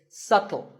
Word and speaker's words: subtle: you say it it's subtle the B is silent subtle means something that